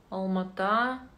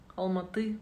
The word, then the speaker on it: Алматы: каких вы городов Удмуртия алма-ата Алматы правильно говорить Новороссийск я если Вы